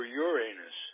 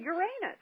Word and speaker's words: Uranus: came out here they one planet in particular was pronounced another way for politically correctness and I had no idea that my teacher was saying it wrong according to everyone I'll let you guess